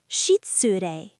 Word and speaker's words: 失礼: This happens with I too, especially between voiceless consonants, like shitsure, excuse me. 失礼、失礼。 Shitsure. The middle I in tsure gets shortened, natural Japanese rhythm.